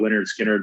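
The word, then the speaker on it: Lynyrd Skynyrd: rock so a lot of leonard skinnered like pronounced leonard skinner uh second helping you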